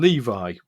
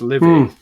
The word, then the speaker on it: Livy: Now I've been calling him Levi, which I think it's Livy. I think it's Livius, the one from the Bible. It's Titus Livius, and then in brackets Livy, Livy. I would pronounce that.